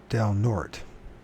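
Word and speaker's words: Del Norte: Fort nort it's pronoun the way we pronounce it is Del nort that okay D North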